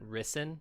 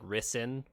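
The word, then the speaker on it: Rysn: name ryzen or arizon risen is how they say it risen it sounds like two syllables like risin is how they how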